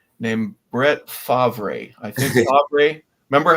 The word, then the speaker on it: Favre: I think Favre. Remember how they mispronounced his name in the draft?